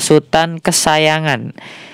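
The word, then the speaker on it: Sutan Kasayangan: kesah jangan di sini ini kan bahasa ejaan yang sudah lama ya teman-teman ya ada buku yang mengatakan di sini Bacanya adalah Sutan kesayangan kesayangan soripada seperti itu disini bisa disingkat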